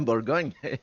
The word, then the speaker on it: Bourgogne: Yeah, Bourgogne. See that? Come on. Everyone listening, you have been saying it wrong. I don't know what you were saying before, but I can guarantee you were saying it wrong. It's the accent.